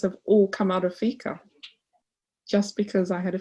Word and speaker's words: fika: And just with that little tradition that's called fika, it's spelled F-I-K-A, pronounced F-E-E-K-A-H, fika, you get to know